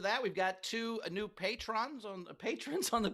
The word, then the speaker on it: Patreon: we've got two new patrons on patrons on the patreon never get it it's pronounced Patron I know I can't